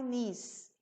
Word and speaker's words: knees: me to my knees cá antes de n não pronuncia to my knees o feiote I wonder